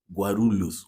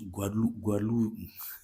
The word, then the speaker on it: Guarulhos: Because of the R again in the middle, I say Guarulhos, Guarulhos, Guarulhos. Damn, man, it's not easy, Guarulhos, Guarulhos. This word actually, and it's quite similar to how the Brazilians pronounce it. I think it's almost the same, but I still have